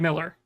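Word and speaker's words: Millar: is a Mark milar it's marar does he say it like AR not a clue I don't think he says it like Miller yeah I haven't heard it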